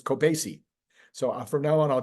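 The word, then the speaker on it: Kobeissi: pronounce k o b i s SII letter kobs is how I'm pronouncing it no the I looked in that pronounce thing on Google and it says it's cobasi so from now on I'll try to remember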